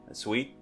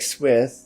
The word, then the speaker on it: Swit: club name, which is Sweet. It's S-Wit. It reads like Swith, Yeah. like S with, but then in the Hangul it's pronounced sweet, like Merkel's like sweet.